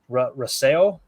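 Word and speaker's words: Rousseau: And then you got Greg Russell, is how you say it, from Buffalo, defensive end.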